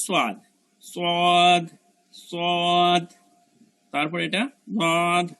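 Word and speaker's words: ض: তারপর এটা দদ, দদের উচ্চারণটা কেমন, দাঁতের গোড়াটা গিয়া জিহ্বার গোড়াটা, জিহ্বার গোড়ার কিনারাটা গিয়ে আমার দাঁতের যে কোনো সাইডের দাঁতের সাথে লাগবে।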